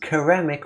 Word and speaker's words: ceramic: Today I learned that Jack pronounces ceramic with a hard C at the beginning.